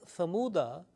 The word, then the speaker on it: ثمود: For example, if say, ala inna thamuda, there will be no making a stop, alif will not be pronounced. It will be thamud, because dal will take